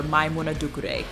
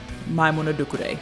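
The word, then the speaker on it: Maimouna Doucouré: Or Maimouna Dukure. That's how you say her name, because some of y'all were struggling.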